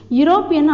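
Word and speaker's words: European: யூரோப்பியன் அப்படி தான், நம்ம வந்து YO அப்படின்ற மாதிரி தான் யூரோப்பியன் அப்படின்னு நம்ம ப்ரொனவுன்ஸ் பண்ணுறோம்.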